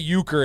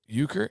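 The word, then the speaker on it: euchre: But uker, is that how you spell it? No, this is Yeah, not that way. I believe it's spelled like this. E U C H R E.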